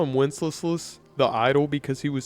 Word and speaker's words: Wenceslas: Wenceslas. Anyway, this guy sucks. He doesn't live up to his father's name at all. In fact, they call him Wenceslas the idol because he was so lazy.